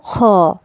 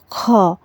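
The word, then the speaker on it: خ: এবারে আমরা যে হরফটিকে দেখতে পাচ্ছি এটা হলো খ, এটা হলো খ। খ এর উচ্চারণটা হবে হলকের শেষ ভাগ হতে।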